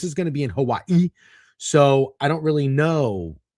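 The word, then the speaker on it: Hawaiʻi: By the way, that I said it like that because I found out recently that is how you say Hawaii. It's Hawaii. I've heard that before. It's apostrophe I.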